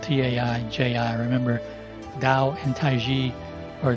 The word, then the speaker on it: Taiji: systems of Tao and Tai Chi, because it's Ji, not Chi.